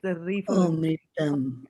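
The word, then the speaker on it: amṛtam: And then when you have the R with a dot underneath it, it is pronounced as Ri, like Rishi. It's a Ri for Oh, Rishi. mritam.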